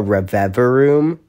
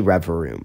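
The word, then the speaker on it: Revavroom: more the river room now some people some people call it a reviver room a river of a room and I know what it's spelled that way but it's definitely River room it's definitely rev room it has to be like there's no way it's not there's no way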